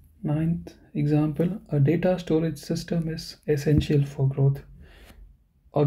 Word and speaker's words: System: Okay, how do you say system? It's actually the same word, but pronunciation is System. System.